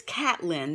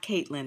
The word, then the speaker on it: Catlin: And then I think it's Catlin, not Caitlin. It's Catlin.